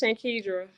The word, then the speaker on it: Shankedra: I'm real careful because I know it's Shankedra Yes. Clayton. Did I say it right? Yes, Shankedra.